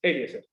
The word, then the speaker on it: Eliezer: Yo creo que en inglés, la forma correcta de pronunciar en inglés mi nombre es Eliezer.